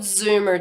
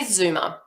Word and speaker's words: Zoomer: Now, I have to spell it because as an Australian living in the US, I say Zoomer. But you guys would say Zoomer, which is Z-O-O-M-E-R. And even if I try to pronounce it, it doesn't come out right.